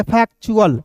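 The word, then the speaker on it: factual: तो सी यहां देखिए टी यू ए एल है तो इसे हम लोग चुल पढ़ेंगे। यहां पे मैं लिख दे रहा हूं। इसे चुल पढ़ेंगे। और देखिए यहां पे एफ ए सी टी को क्या पढ़ेंगे दोस्तों? फैक्ट और चुल को जोड़ देंगे। फेक्चुअल।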